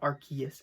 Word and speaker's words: Arceus: it as rcs because that was the original pronunciation in english they changed it to arceus afterwards and i got this really awesome pre-order